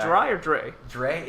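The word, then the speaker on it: Dri: Dry Archer is the third string running back. Is it Dry or Dre? Dre. It's D-R-I. D-R-I. Dry. Oh, however you want to pronounce that.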